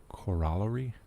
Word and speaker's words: corollary: be understood without a corollary Corollary you'll hear it pronounced both ways when it's used as